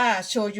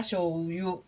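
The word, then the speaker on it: しょうゆ: นี่ ใช่ มั้ คะ คน ไทย เรียก โชยุ ก็ ไม่ เป็น ไร ค่ะ ก็ เรียก โชยุ ไป นะ คะ ตาม คน ไทย แต่ ว่า ป้า แป๋ว อยู่ ที่ นี่ ป้า แป๋ว ก็ จะ จะ ออก สำเนียง แบบ นี้ นะ คะ ออก สำเนียง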